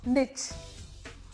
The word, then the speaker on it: niche: आपको पता है, ओरिजिनली it wasn't niche जो हम जानते हैं, ओरिजिनली it was niche। नीच भी नहीं, निच। लेकिन कोई निच कहे तो वो भी सही है, कोई नीच कहे तो